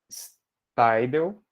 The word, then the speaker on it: Staidel: O Steidel. É assim que se pronuncia? Steidel? É? Legal.